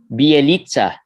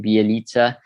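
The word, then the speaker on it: Bjelica: someone commented on youtube that i said his name wrong it's b eliza right that's right okay so that's the right pronunciation of his name bialitza he had 6.6 rebounds and uh 16 in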